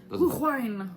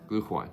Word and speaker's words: Glühwein: Glühwein. Glühwein. There you go. Glühwein. Sounds like blue wine or something.